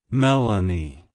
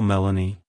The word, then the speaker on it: Melany: name it's pronounced as Melanie Melanie Melanie to pronounce it correctly emphasize the Mel syllable and then add a soft uh sound before ending with an a like hello Melanie goodbye Melanie if you